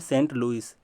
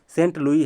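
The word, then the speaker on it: St. Louis: तो सेंट देख रहे हो, इसलिए मैं इसको इसके साथ ही रखा हूँ, सेंट लुई है, ठीक है। लुइस का स्पेलिंग ऐसे होता है, सेंट लुई, सेंट लुइस भी बोलते हैं, सेंट लुई भी बोलते हैं।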